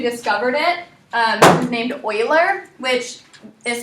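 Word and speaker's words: Euler: the person who discovered it um is named Oiler which is spelled e u l e r so so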